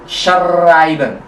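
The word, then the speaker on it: schreiben: i b e n di situ ada S CH H juga ada ei i jadi S es a i e i jadi ai a jadi shben betul shben atau dalam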